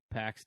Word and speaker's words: PAC: like hangman page versus pack and it is pronounced pack I made sure of that even though it's